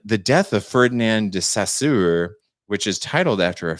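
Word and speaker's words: Saussure: death of ferdinand de sassoor which is titled after a french linguist and rhymes with his name and rhymes his name with closure bulldozer and classic motown songwriting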